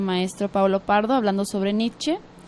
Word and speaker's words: Nietzsche: algo así, bueno, pero en alemán se deben de pronunciar todas las letras salvo cuando hay diptongos, ¿no? O sea, que ya como se construyen otro sonido. Pero sí, entonces Nietzsche. Sí, es Nietzsche.